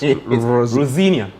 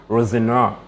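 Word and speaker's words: Rosenior: That's how his name is pronounced at when he said it at a press conference. But if you want to go by, I don't even want to say if you want to go by the way the English pronounce it, but the way the eye sees it, it's Rosinia. Rosinia. Yeah, but he says it's Rosinoir. So he's English, but that's a French name.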